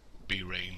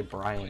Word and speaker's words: Brain: And I do find it amazing how you fail to pronounce B-Rain when it's just Brain. I thought I did call him Brain. I tried to say Brian at first.